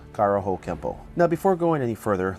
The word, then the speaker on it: Kenpo: this would mean that Kempo is technically spelled with an N but should be pronounced with an M through romanization it is